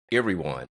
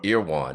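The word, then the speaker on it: Erewhon: I'm going try to pronounce it. Irwan ear or Iwan.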